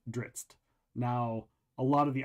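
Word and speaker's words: Drizzt: but uh it's very he always pronounced it dritz now a lot of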